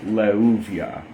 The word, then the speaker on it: Leuviah: Anyway so leuvia we do know how to pronounce the name in uh English or Latin letters and it is levia again the shem angel of intelligence memory and connecting to the divine.